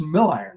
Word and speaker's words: Milliron: Now, for those people that might not know, last name pronounced Milliron, right? That's correct, Jeff.